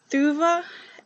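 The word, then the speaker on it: Thuvhe: Thuva and Shautet is how she pronounced them, I believe.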